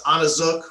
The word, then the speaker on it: Onizuk: We often say it's Onizuk, rhymes with book, so it's kind of an easier way to remember.